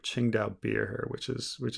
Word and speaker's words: Qingdao: lot of weird spellings qingdao beer it's just the um the one that everybody mispronounces that you might see in your in your own country but um let me bring up ching dao beer here which is